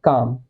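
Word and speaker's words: calm: हिंदी में लिखिए देखिए एल तो साइलेंट होता है तो एल के लिए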